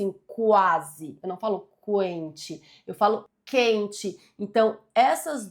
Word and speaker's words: quente: E na letra B, na letra B nós temos dois dígrafos. Aqui, ó, as letras Q e U tem um único som, representam um único som.